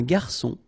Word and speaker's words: garçon: Remember when we get this cédille beneath the C, it will give you the pronunciation S of C. So instead of K, as it should be with O.